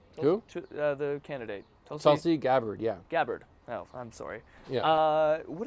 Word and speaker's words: Gabbard: joke so JC's so your loving your loving Gabor did I say her name in the candidate tulsi gabbard yeah gabbard well I'm sorry yeah what do you think